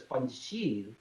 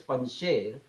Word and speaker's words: Panjshir: I think Indian media channels wrongly pronounce as Panjshir. It's not Panjshir, it's Panjshir, 5 lions.